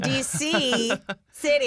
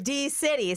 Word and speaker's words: D-City: I was saying DC City. I know now. But now I know it's D-City, so I'm good.